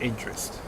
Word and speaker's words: NTRST: So, because this is the Banker 3 arrival, that NTRST is pronounced interest.